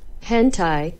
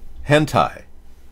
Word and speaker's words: hentai: but yeah they critics the correct pronunciation of this is hentai hentai that's what it is hentai does it even matter